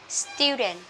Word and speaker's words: student: Nhưng đó chữ S là vô thanh, chúng ta sẽ đọc nhẹ là student. Student, tức là các bạn đọc nhẹ chữ tờ, chữ T các bạn ha.